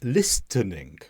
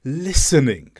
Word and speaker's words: listening: because I wasn't now I said listening but it should have been listening the T should have been silent it should have just been the S sound listening and this is another